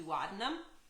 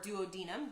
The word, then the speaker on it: duodenum: the intestine which is called the duodenum or duodenum depending on who you are and how you say it um everybody says it different um and they'll just